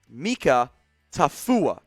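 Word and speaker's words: Mika Tafua: them as edge here out of utah it's pronounced mika tafuwa out of utah who's a bit of an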